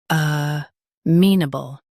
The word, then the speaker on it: amenable: Stress me and keep n soft.